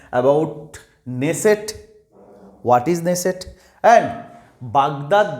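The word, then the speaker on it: Knesset: four options আর দেয়ার নেসেট কে এর উচ্চারণ হবে না এই ওয়ার্ডটা কে এন ই এস এস ইটি এই ওয়ার্ডটা যদিও কে আছে বাট K will be silent নেসেট Baghdad Jerusalem and Beirut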